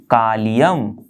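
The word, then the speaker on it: Kalium: गया है, K मतलब कालियम, ओके तो आप अब उसको कई और तरीके से भी प्रोनाउंस कर सकते हो, जैसे आपकी मर्जी, मजा आए कालियम बोलने में तो कालियम बोलो, कैलियम बोलना है तो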